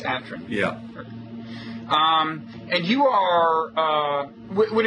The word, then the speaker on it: Atran: Is that the way you pronounce it? It's not Atran, right? It's Atran.